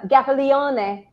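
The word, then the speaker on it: Gaffalione: gaffione or as i like to say tyler gaffiliane aboard because that's how his name is really pronounced everybody it is i asked him um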